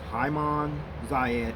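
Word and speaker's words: عام زايد: fuselage of the aircraft literally means year of zayed which is actually pronounced as haiman zayad in the arabic language okay and now you're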